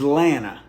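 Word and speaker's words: Atlanta: liquor store as landmarks let me give you a few proper pronunciations in the South to the east of us is South Carolina and North Carolina the capital of Georgia is atanta below us is Florida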